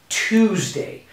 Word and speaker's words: Tuesday: just like this is tuesday just like this two or like the number two okay so one more